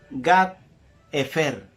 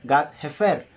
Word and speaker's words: Gat-Hefer: Su hogar se encontraba en Gat-Hefer. O sea, Gat con H-Hefer o Gat-Hefer. Porque la H, sobre todo en el hebreo, se pronuncia parecido a una J. Gat-Hefer.